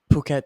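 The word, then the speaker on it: Phuket: was the city you you just flew into puket Thailand puket Thailand now you're in puket Thailand how do you spell that p h u k t okay that's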